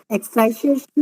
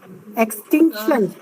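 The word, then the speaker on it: extinction: इसमें हाँ, ये मोलर एक्सटिंक्शन कोफिशिएंट है, एक्सटाइजेशन नहीं, एक्सटिंक्शन। हाँ, प्रोनाउंसिएशन ठीक करो। हाँ, एक्सटेंशन एक्सटिंक्शन, TINC।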